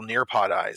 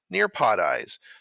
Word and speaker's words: Nearpodize: take a look at is how to install nearpod eyes so let's begin the first step on your